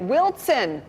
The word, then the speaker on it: Wilson: He wrote, for your continued education, Wilson is properly pronounced with a T in it, Wilson.